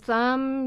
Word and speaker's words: thumb: So thumb, you don't even pronounce the B, that's not even really there.